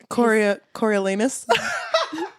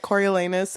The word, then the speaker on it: Coriolanus: Coriolanus. It's like, that is not how you pronounce it.